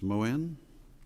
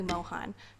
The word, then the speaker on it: Mohan: further on rebuttal miss moen or mohan forgive me if i've mispronounced it good morning your honors it's mohan from like han solo glad to have you